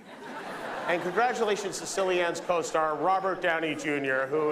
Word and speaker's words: Cillian: Interesting fact about his name, it's pronounced Killian when he does drama. When he does comedy, it's Cillian. And congratulations to Cillian's co-star, Robert Downey Jr., who is...